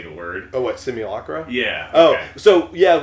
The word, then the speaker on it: simulacra: Oh, what, simulacra?